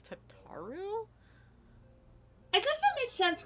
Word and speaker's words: Tataru: a hate crime um another name that i pronoun mispronounced for a long time until i heard it was tataru and then i heard it a cutscene because i said tatsuru and then i heard